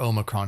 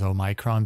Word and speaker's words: omicron: a micron was started to spike right or omicron however people are pronouncing it it the correct pronunciation is a micron because it's a a greek letter but whatever